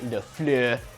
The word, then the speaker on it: LaFleur: That's how I say his name, Matt LaFleur, and the Green Bay Packers.